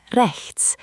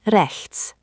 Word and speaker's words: rechts: This one has that tricky ch sound. Remember, it's like the ch in lach or the end of bach. It's a soft, guttural sound from the back of your throat, not a K sound.